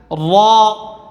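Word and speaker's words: ر: এখান থেকে টান দেন হা খ দাল দাল র হ্যাঁ র র হরফ মোটা হবে র র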